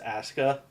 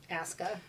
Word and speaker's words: Asuka: In WWE, her name is Asuka. Asuka.